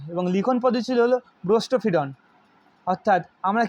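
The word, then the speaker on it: boustrophedon: এটা ব্রোস্টোফিডন। বাংলায় উচ্চারণ অন্যরকম হবে, কিন্তু ইংলিশে ব্রোস্টোফিডনই হয়।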